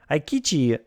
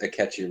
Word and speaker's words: Akechi: Aikichi Mitsuhide has rebelled against Nobunaga at Hanoji Temple. Well, okay. You pronounced Akechi wrong.